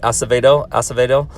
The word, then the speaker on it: Acevedo: Acevedo. So the C sounds like an S.